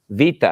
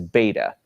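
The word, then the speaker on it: βήτα: Vita and of course if you're used to the Americanized pronunciation or the reconstructed pronunciation you you would know this as beta but it's actually pronounced Vita and it makes a v sound like a V and Vita is basically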